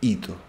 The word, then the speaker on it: Ito: refiere la virgen es monseñor hito que se escribe sin h hito como suena 3 de agosto de